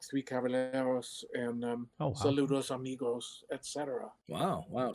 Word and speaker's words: Caballeros: How do you say Calaberos? Caballeros. Yes.